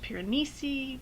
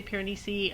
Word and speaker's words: Piranesi: no so anyway um first off i finished piranesi piranesi however you want to say it i'm going to say piranesi i looked it up it's the name of